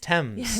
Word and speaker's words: Thames: Thames is pronounced Thames.